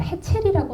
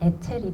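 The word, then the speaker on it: Hetzel: 자, 어, 운좋해 젤리라고 하는 한국말로 번역된 것들은 다 헤첼이라고 나와 있는데 프랑스어는 H가 무음이어서 프랑스 식으로 발음하면 애첼이 되거든요.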